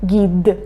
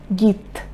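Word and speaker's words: гид: So that's why I say git instead of gid, okay? No one says gid. Gid. No one says this way. Everyone says git. Okay?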